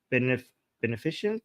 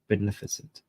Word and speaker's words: beneficent: of the worlds the Bene beneficient yes the merciful uh Lord of the day of judgement am I reading this correctly hold on am I pronouncing this correct beneficent okay yes beneficent the beneficent the beneficent